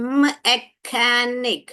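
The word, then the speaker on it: mechanic: मैकेनिक, मैकेनिक, क क क का प्रोनाउंसिएशन आया यहाँ पर।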